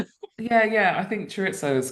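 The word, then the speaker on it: chorizo: I only realized the other day uh what I called churitzo should be pronounced churitzo, but I can't do it properly.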